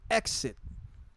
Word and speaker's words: EXXXIT: i'm doing today is called exit but it's spelled with three x's let's go ahead and